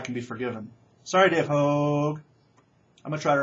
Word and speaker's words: Hogg: It's a long O. I'm sorry, Dave Hogg. Dave Hogg.